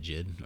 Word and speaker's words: JID: Is that how you say it, Jid, or is it JID, or does it matter?